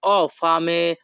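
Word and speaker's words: ho fame: Italian ভাষা হবে অফে Italian ভাষাতে এইচ ও এর উচ্চারণ হবে অ ইতালিয়ান ভাষা অ ফামে বাংলা অর্থ আমি ক্ষুধার্ত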